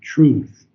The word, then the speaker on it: truth: thing is truth true think of the word true and then try put a th on the end of it truth true true that's better